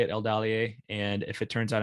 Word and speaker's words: Eldalië: sure the the e if it is short then the stress falls in the syllable before it's a third from the end so it would be el dalier right so i would be pronouncing it correctly so it all depends